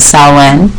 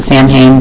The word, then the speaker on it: Samhain: Jewish or pagan so so we call it saw one it's pronounced well it's pronounced that when it looks like SI m haan and some people call it Samhain that is actually mispronounced it's Celtic so it's